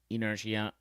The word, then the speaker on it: inertia: Inertia. All right. So, how do you say it? Inertia. Inertia. Oh, it's silent. Inertia. A tendency to do nothing or to remain unchanged.